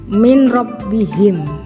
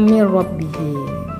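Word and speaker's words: مِن رَّبِّهِمْ: Kalau bilaguna contohnya min rabbihim ya. Jadi bacanya min rabbihim ya.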